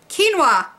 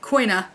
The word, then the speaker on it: quinoa: it I don't know I've also been mispronouncing it for my whole life so I'm from Georgia we don't talk like normal people um but it's quinoa which I've been calling quina my husband corrected me